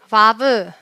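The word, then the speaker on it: ו: 하셔도 바라고 하셔도 상관없지만 바르는 V 발음이다 아까 베이트는 부발음도 나고 르 발음도 난다라고 얘기를 했잖아요 근데이 마블은 위 발음만납니다 그래서를 꼭 강조를 해주시면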